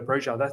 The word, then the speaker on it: Broja: Armando Broja, actually, he pronounces himself as Armando Broja.